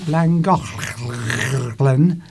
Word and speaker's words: Llangollen: And then we visited we went to Llangollen, which is the correct pronunciation of Llangollen.